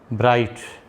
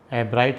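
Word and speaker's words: Ebright: इस लेसन के बारे में आपको बताया है ये रिचर्ड ब्राइट, एब्राइट भी बोल देते हैं, बाकी मैं ई को साइलेंट ही कहूँगा, एब्राइट यदि आपकी भाषा में कहूँ तो।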